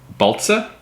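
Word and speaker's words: Baltsa: Margaret price and um Agnes balza I believe is how you say her name and Hermann pray um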